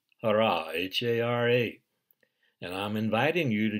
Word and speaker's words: Hara: below the naval in Japanese it's called the Hara h a r a it's called other things